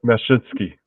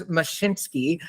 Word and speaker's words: Mashinsky: Can you pronounce his last name? I have such a hard time here. I would say Mashinsky.